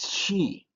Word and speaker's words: chi: and then the next letter is key ch key and see this one there's a way that you need to put your throat chi and uh you